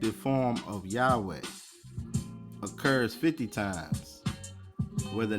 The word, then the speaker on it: Yahweh: The tetra gam grammaton y hwh is not ordinarily written with its appropriate Hebrew vows but that the original pronunciation was Yahweh seemed promable.